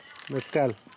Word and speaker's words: mezcal: Mezcal. With an S.